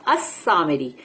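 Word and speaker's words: السامري: नहीं है अल सामरी मगर अल नहीं बोलेंगे क्योंकि वो वहां सीन आती है ना तो इसलिए लाम जो है वो साइलेंट हो जाएगा तो तुमको बोलना पड़ेगा असमरी जैसे कि अशम्स लेकिन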